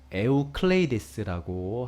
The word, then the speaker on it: 에우클레이데스: 유클리드는 이제 실제 발음은 원래 에우클레이데스라고 하시는 분인데, 네, 이 분이 이제 아마도 이제 영어식으로 발음하면 유클리드라고 하는 것 같습니다.